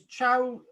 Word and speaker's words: Chysauster: There's different ways of pronouncing it. It's Chowcaster. Basically Chysauster, Chowcaster or Chowcaster, and people call it something else.